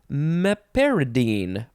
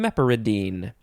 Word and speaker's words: meperidine: trademark and it is used for meperidine or meperidine or meperidine mepyridine mepyridine maporiden any of those ways is fine and it's some some